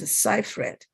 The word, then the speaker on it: Seyfried: here is amanda seifried i think it's pronounced seifried i wouldn't know unless